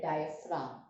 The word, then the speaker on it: diaphragm: spelling of diaphragm it here the G is silent it is diam from